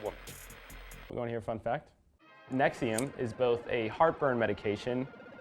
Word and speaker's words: NXIVM: start at the beginning nexium for some reason is spelled like a bad soundcloud rap group and it was started